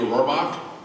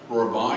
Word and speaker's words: Rohrbach: Now on to Tina Rohrbach, Director of the Pullo Center. Rohrbach, excuse me, I pronounced that wrong.